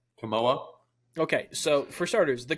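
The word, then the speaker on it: Kimoa: though for starters the uh how is it pronounced CA is that correct camoa okay so for starters the camoa merch was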